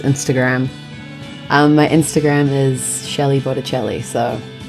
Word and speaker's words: Botticelli: my instagram is Shelley Botticelli so like it's not my last name you know the artist Sandra Bocelli and it rhymes with my first name so I was like Shelley Botticelli